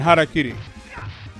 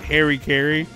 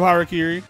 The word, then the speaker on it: harakiri: heard anybody pronounce it harry carey just know that those people are from the 90s and early 2000s harry carey is one of the like the idiot western ways of pronouncing harakiri and i'm saying it